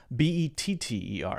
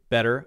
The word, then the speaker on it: better: English as well but if you have the T there in this sort of situation where there's an R an ER after it or often a lot of vowels after it then Americans will will say this very interesting thing called a light D sound we will say better